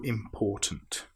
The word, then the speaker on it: important: Now we need to be very careful with this word because some people will put the stress on the im which is wrong.